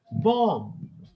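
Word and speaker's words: bomb: line लगी हु होती बम नट ब आखिर में बी नहीं आएगा बी बम ह डोंट मेक योर ओन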